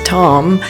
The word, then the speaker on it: Tomme: least 6 days Tom and the French pronunciation is Tom occasionally spelled t m is a class cheese